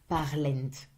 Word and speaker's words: parlent: Il or elle with a final S, remember to always put, if you write it, if you say it as it's written, parlent. But you will never pronounce it. Never.